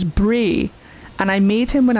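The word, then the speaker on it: brae: But fun fact, in Scotland, B R A E is always pronounced as Bray.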